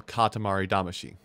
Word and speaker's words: Katamari Damacy: 7777 from the original katamari damashi i'm saying she because that's how they say it in the game it's the song that